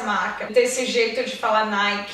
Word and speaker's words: Nike: Até hoje eu ainda faço alguns erros nessa marca, desse jeito de falar Nike. Então imagina um I no final, Nike. Nike.